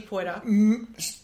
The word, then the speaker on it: Poitier: I loved Sydney Poitier. First of all... Oh, Sydney Poitier. Poitier. Is it? Is that how you pronounce it?